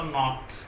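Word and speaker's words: gnat: वो कह रहा है कि एन से पूर्व आया जी साइलेंट रहता है। जैसे हम वर्ड की बात करें तो नॉट, नॉट जो है, ठीक है, GNET, नॉट, sorry नेट, नेट मतलब खटमल, खटमल। इसका जो प्रोनाउंसिएशन है वो नेट है, नेट का मतलब खटमल।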